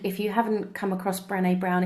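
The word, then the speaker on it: Brené: Brenda brown and if you haven't come across Brene brown it's worth looking up her TED talk Ted calm Brene is spelt BR e and e brown as in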